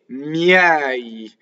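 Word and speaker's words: miei: De miɛi. So usually after a semivowel, if you have an E, it's going to be an open E on a stress.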